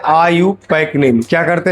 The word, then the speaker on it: IUPAC: दूसरा होता है डेरिवेटिव नेम और तीसरा यही मेन पढ़ना है आईयूपक नेम लिखते हैं आईयूपीएसी और इसको उच्चारण किया जाता है आईयूपक नेम क्या करते हैं